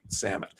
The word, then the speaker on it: Samit: Rhymes with damn it, Samit.